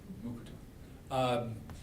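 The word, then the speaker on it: Mukurtu: It's always hard for me because you don't pronounce the R. Mukutu.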